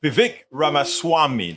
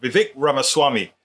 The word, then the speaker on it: Vivek Ramaswamy: Vivek Ramaswamy. That's how he says it. Vivek Ramaswamy.